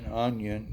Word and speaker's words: Union: You can get a boat, a small boat, that'll take you to Onion. They call it Onion. It's spelled Union.